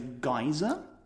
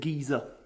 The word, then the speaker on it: geyser: I would pronounce the thing that spews hot water and steam out of the ground as a geyser. Yes. And I would call an old person a geezer. Well, I wouldn't, but that's the pronunciation I would use. Now, I did look this up, and in 1800 Scotland, they would have said geezer.